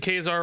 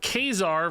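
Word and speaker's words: Ka-Zar: are spoken aloud foreign it's pronounced like czar I don't know I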